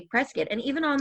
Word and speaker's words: Prescott: But the people who live there and around there say Prescott. And even on like the side of a building, a grocery store in Prescott, it says it's Prescott rhymes with biscuit.